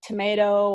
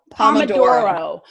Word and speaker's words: Pomodoro: So I would start off, if you're already doing like, they call it tomato or 20 minutes on. I say it wrong. Pomodoro.